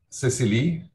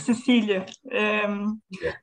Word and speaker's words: Cecilia: Cecily, if that's a pronunciation. It's Cecilia.